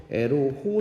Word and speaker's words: 애로호: 조작을 하는데 그게 바로 에로 호호 사건입니다 발음 주의하시고요 애로우라는 거는 애로우라는 영어 단어에서 등장을 합니다 화살이라는 뜻이죠 에로호라는 배에서